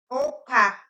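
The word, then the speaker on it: ũka: So this is the O. If you can notice, it has the squiggly part on top. That's why it sounds O, not U. O. Example is Oka, Oka, like come here.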